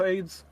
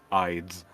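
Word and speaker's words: Ayds: for this in 1980s is it supposed to be pronounce AIDS or is that one of those you know Ides is is how it's supposed no it is it is AIDS cuz in the commercials it's um it's a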